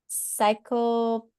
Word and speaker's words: cyanocobalamin: She asks, isn't cyanocobalamin, how do you say that word?